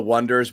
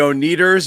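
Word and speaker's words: Oneders: thing you do and they call themselves the wonders but they spell it o-n-e durs and everyone's like the oh needers and they're like uh forget it well that was like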